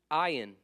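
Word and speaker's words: Ayin: s's next one is Ion also rhymes with Ryan lot of Ryan in here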